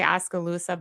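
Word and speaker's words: Oskaloosa: And tell me how to pronounce the name of the town you guys because I say Oscaloosa but I think it's Oscaloosa. No, you said it right the first time.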